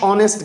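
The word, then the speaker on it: honest: उसके बाद है जी Sadia is dash ऑनेस्ट girl, ऑनेस्ट बच्चे, ये एच इसमें साइलेंट होता है, हम क्या करते हैं, हमने इसे ऑनेस्ट बढ़ना होता है, इसलिए हम इसके साथ एन लगाएंगे।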